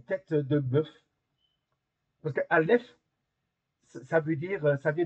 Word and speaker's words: aleph: Alors, la première lettre, c'est la lettre ALF. Alors, elle se prononce pas comme la lettre euh notre lettre A, c'est une lettre muette. C'est comme le H.